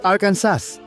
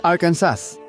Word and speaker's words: Arkansas: Pero opisyal na ginawa ng estado na ito ay Arkansas. Hindi Arkansas.